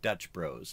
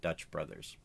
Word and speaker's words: Dutch Bros: in Oregon where I live we also have Dutch Bros and that's the way that they pronounce it it's not Dutch Brothers now when I was in high school nobody